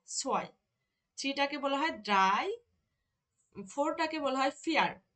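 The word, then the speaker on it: drei: সোয়াই কি বলে সোয়াই থ্রি টাকে বলা হয় ড্রাই ফোর টাকে বলা হয় ফিয়ার ফিয়ার এই যে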